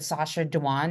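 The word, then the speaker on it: Sacha Dhawan: So, I always butcher his name, but Sasha Dwan, am I even saying it correctly?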